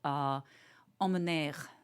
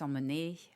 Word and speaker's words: emmener: to do incorrectly, is pronounce the end of a word that ends in ER. Yes. What am I doing wrong? Well, for example, on a verb, you said emmener. Yeah. And it's emmener or amener.